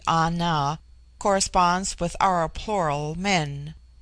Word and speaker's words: Ana: The word ana pronounced broadly ana corresponds with our plural men.